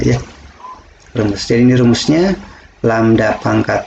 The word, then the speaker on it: lambda: Dibaca lambda simbol.